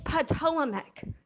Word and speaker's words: Patawomeck: Like it's Patawomeck. You do not know how to pronounce the tribe name right.